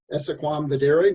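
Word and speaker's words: esse quam videri: tar heel state um our state motto is essaquam vaderi which is the southern pronunciation southern latin pronunciation which means uh to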